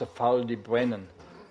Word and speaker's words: Ffald y Brenin: God was doing in feldy Brennan ever heard of that Herrmann explained it's built in a funny way it's Welsh and it's pronounced a foul D Brennan it's in West South